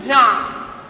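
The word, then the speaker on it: Jean: বানানটা কিন্তু বাবা অন্যরকম হবে, হ্যাঁ, এটার উচ্চারণটা কিন্তু জাঁ, মানে ফরাসিতে উচ্চারণটা জাঁ।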